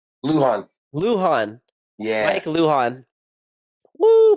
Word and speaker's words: Lujan: Did I pronounce that right? It's Lujan.